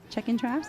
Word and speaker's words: Checkin' Traps: Speaking of features, this next video that we have featuring Shorty Mac and Checkin' Traps.